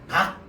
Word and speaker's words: 닭: 얘를 리을 발음하면 어떻게 돼? 달 이렇게 될 거야. 얘를 기억 발음하면 어떻게 돼? 닭 이렇게 될 거야.